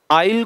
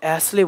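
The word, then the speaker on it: aisle: ठीक है, कुछ दिन पहले एक मास्टर साहब थे, वो आइल को ऐसले बोल रहे थे, आइल को ऐसले बोल रहे थे और बहुत बड़े प्लेटफॉर्म पे कहने को पढ़ा रहे थे।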